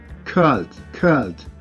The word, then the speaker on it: called: Esta palabra o este verbo, su sonido termina en L y no tenemos en ninguna de estas partes, por lo cual tendremos que pronunciar en su pasado con una D.